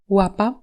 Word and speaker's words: łapa: Il se prononce WE comme dans Łapa, pat, donc un son qu'on aurait envie d'écrire avec un W en français, sauf qu'en polonais le W se prononce V comme en allemand.